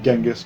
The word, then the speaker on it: Chinggis: who was chingus khan chinggis khan i think is actually how mongolians pronounce it uh in the in the west we tend to call him genghis khan but kublai khan